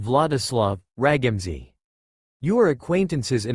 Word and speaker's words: Wladislaw: You, Kakashi, will be under the name Wladislaw, pronounced Vladislav, Ragamzi.